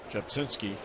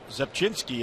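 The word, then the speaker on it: Rzepczynski: Yeah, Zepchinski, and it begins with the letter R. Which is silent.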